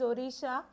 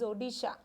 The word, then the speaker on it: Odisha: Earlier the state's name is Odisha, but now the spelling of that or the pronunciation of that state has been changed, that is Odisha, Odisha.